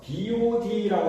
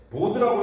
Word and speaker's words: BOD: 자, 수지로 집회 중에서 BOD라고 돼 있어요. 보드라고 읽으면 안 됩니다. 옛날에 국회의원 한 사람이 국장 감사에서 보드라고 읽었다가 연락 무식하다고 어 연락 무식하다고 욕 먹었는데 보드가 아니고 뭐라고 기호야? Bod라고 읽어야 된다.